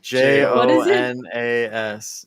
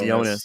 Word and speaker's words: Jonas: how to spell that j o n a s j o n a oh Jonas yeah no it's yonas Oh I thought you said